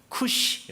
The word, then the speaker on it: 쿠시: 있고 당시 고대의 명칭을 정식 명칭은 사실 구스가 맞습니다 쿠시 라고 보통 발음을 하죠 성경에 나오는 부 약속